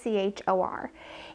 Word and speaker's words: Achor: in this podcast was the episode with Sean Acker, I think is how you pronounce it, or it's Acher. It's Achor.